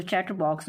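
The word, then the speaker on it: chatterbox: इसके बाद है इसमें चैटर बॉक्स मतलब आर जो है साइलेंट दिखाया गया है, इसलिए हम इसको चैटर बॉक्स बोलेंगे।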